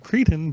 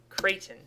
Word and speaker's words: Creighton: Unless that's a mispronunciation of Cretan, but I don't think it is. It's Creighton.